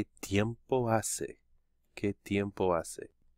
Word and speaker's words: hace: not pronouncing the H you do not pronounce the H in Spanish it's always silent ah Sabian though you